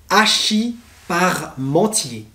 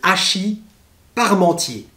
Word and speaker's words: hachis parmentier: très important en france vous avez ensuite le hachis parmentier le hachis parmentier le hachis parmentier c'est de la viande hachée avec des pommes